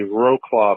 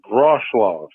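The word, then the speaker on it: Wrocław: So it's spelled W-R-O-C-L-A-W, but the W's are like a V. So it's Rochlaw.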